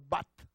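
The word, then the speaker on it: בת: La palabra hija es una palabra hebrea que se pronuncia, hermano, bat.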